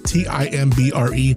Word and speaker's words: Timbre: Timbre. Yeah, look it up. It's pronounced that way.